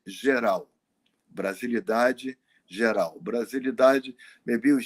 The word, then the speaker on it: Geral: When I heard the group called Brasilidade Geral. Brasilidade Geral. Brasilidade, maybe we should spell that, you know. It's like Brazil with the S, BRASILIDADE, Geral, GERAL, Brasilidade Geral.